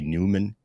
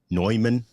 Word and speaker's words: Neumann: a warm audio or a newman neumann i gotta say it right the neumann microphones which